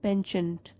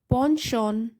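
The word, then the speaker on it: penchant: बता रही हूँ आपको, अमेरिकन इंग्लिश में तो इसको बोलते हैं पेंचेंट, पेंचेंट। तो हम ब्रिटिश इंग्लिश फॉलो करते हैं, तो हमारे स्कूल्स में भी ब्रिटिश इंग्लिश में ही प्रोनाउंसिएशन सिखाते हैं। तो है अ boy with a पॉन्शॉन for puzzles.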